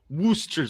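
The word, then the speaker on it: Worcester: and jen john says it's pronounced wooster sauce the town in massachusetts yeah we're sister we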